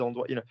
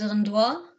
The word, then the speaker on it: endroits: Les endroits. No, with twang, dude. How do you pronounce E-N? Ah, les endroits. No. E-N, Maggie.